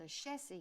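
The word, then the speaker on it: Ashesi: There's one of the most amazing universities that is called a Shesi University.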